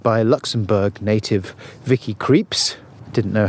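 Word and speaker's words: Krieps: young woman played by a luxembourg native vicky creeps didn't know how to pronounce her surname until paul told me in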